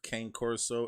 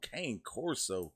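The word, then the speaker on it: Cane Corso: j blaze put german shepherd rottweiler bull massive king corso and puck oh kane corso good lord he likes some big-ass dogs i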